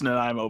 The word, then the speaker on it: Nanaimo: well I'm like uh yeah no it's it's nanaimo but yeah like that's where you are and a lot of people cannot pronounce the name of my city just reading